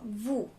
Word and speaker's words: vous: For the second person again, the second person is vous.